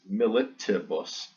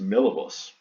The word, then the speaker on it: milibus: It's not militibus. We're missing a syllable there. It doesn't have a ti. It's just milibus.